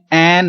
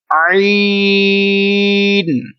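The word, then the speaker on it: عين: لوگ اس کو پڑھتے ہیں این غین. کیا پڑھتے ہیں؟ این غین. یہ دونوں ہی غلط ہیں. یہ اردو میں تو ہوگا ایسا، لیکن عربی لہجے میں ہمیں ایسا نہیں پڑھیں گے. ان کو آپ نے 3 سیکنڈ لمبا کرنا ہے، اور پڑھنے کا کیا طریقہ ہوگا؟ عین. اس کی آواز ناک میں نہیں جائے، آئین نہیں ہو، بلکہ عین.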